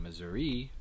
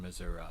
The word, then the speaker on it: Missouri: A well-known difference here, the pronunciation difference between Missouri and Missouri for that final vowel in the name of our state.